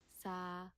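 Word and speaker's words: さ: once again from scratch the s word s sa sa like a Sala so just like s sound plus making a sound of sa prce like sa in salsa okay notice how this Ghana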